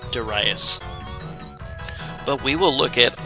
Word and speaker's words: Darius: I just called it Darius forever, but it's supposed to be pronounced Darius.